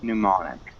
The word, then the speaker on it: mnemonic: that uh mnemonic the pneumonic mnemonic i saw the m is silent recall to recall huh